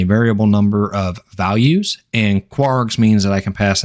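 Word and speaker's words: kwargs: and then two asterisks and kwrs which is commonly pronounced as quarks now I'm not going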